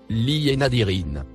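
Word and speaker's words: لِلنَّاظِرِينَ: Le mot écrit en rouge se prononce Li et Nadirin.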